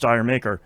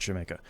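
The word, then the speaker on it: D'yer Mak'er: Also, it's not pronounced dire maker. They're making fun of Americans. It's pronounced Jamaica.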